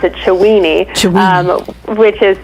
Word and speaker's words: Chiweenie: So you were saying it's actually, I pronounce it Chiweenie, which is Chiweenie works too, but Chiweenie is a Chihuahua Dachshund cross, and he's short hair.